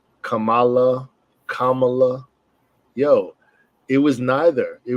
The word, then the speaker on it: Kamala: mean and uh and people fight over the pronunciation of her name Kamala Kamala yo it was neither it was Kamala right